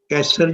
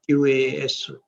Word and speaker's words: Qasr: Sometimes you will find in your studies that Qasr is spelled in a very wrong way, like Qasayr, Qasayr or something like that. But that is misspelling of Qasr. Qasr is Kaf, do nukte wala Kaf, and then Suad and Re, simple.